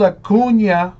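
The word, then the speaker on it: Acuña: of the Braves 299 in case you were wondering how you pronounced that little squiggly line over that end yeah yeah like combining the N and the y ah kun yeah who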